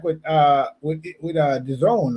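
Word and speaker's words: DAZN: time you know uh it's not daz and it's the zone that's how they pronounce it the zone yeah yeah yeah but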